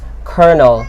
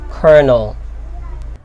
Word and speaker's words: colonel: actually borrowed it from Italian and the correct pronunciation of word number five is colonel it's not : oh but it's colonel number six is nonplussed let's make use of